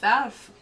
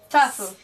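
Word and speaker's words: Tafl: A game of Tafel. Of what? Sorry, I said it wrong. Tafel.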